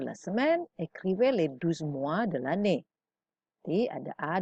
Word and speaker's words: mois: Oke, yang B, les 12 mois, les 12 mois de l'année. Sekarang bedakan mois tanpa S, bacanya sama.